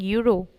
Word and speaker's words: euro: This word start with E, and E, this is vowel, but when we are pronouncing, we are saying euro. So we are pronouncing Y, and Y, this is consonant.